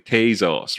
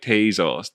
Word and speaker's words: Tezos: say that um um americans are pronouncing this thing tazos right taizos t-a-y-z-o-s tazos and um i don't i pronounce it tezos and i'm sure people